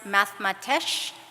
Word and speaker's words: mathematx: that word is pronounced mathematische the X has multiple meanings the X is pronounced to honor Nahuatl language the reason that it's